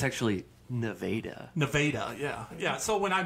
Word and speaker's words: Nevada: There's also a Nevada, Missouri that's spelled the exact same way as Nevada, Missouri. And Ooh, no, it's actually Nevada.